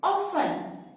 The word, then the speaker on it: often: But often is totally wrong pronunciation. You have to replace it with the right pronunciation. Its right pronunciation will be often. T will be silent.